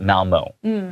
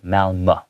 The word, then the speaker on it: Malmö: In Malmö, Sweden, as an American, if I see Malmö, this word, I would pronounce it Malmö, okay? But the correct pronunciation in Swedish, which are things from Sweden or the language of the people in Sweden, Swedish, S-W-E-D-I-S-H, it would be pronounced more like Malmö, okay?